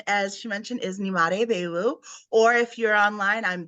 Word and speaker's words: Nyemade Biowu: it up on a number of occasions so n m day B yes yep you did it please introduce yourself hi everybody my name as she mentioned is Nim beu or if you're online I'm that